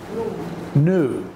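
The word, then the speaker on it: knew: tense no present tense new the the K is silent usually we pronounced the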